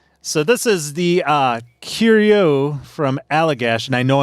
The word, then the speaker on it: Curieux: So this is the Curieux from Allagash, and I know I'm saying that wrong. John, can you give me the French pronunciation on this one? No, I can't. Curieux.